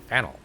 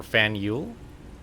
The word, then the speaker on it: Faneuil: The name of this building is pronounced Fanel. Okay, or Fanule.